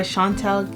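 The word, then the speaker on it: Chantel: Happened One Christmas by Shantel G I believe that's how you pronounce her name I have it here on Google translate Shantel yes that's how you pronounce your name um it's a French name um but pretty much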